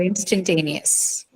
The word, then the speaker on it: instantaneous: The stress is on teen, right?